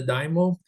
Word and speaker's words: daimyo: The shoguns and the daimyo, Yumi, correct, how do you pronounce daimyo?